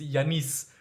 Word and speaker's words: Yannis: At this point in time, I'm confused because I've traveled a lot and everybody's got their own pronunciation, but it's Yanis. Originally Yanis. Yanis.